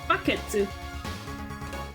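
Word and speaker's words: バケツ: The only one I remember was bucket, which was like in Japanese they pronounced it baketsu.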